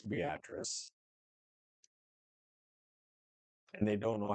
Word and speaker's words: Beatrice: And you definitely know I'm local because everybody else would say Beatrice. Beatrice is, I'm like, no, it's Beatrice.